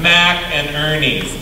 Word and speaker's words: McInerney's: someone in Hawaii said, just think Mac, like mac and cheese, and Ernie, like Bert and Ernie. Mac and Ernie's.